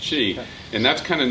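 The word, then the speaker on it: qi: about cheese it's it's it's bell q ibis pronounced chi and that's kind of not just the meridians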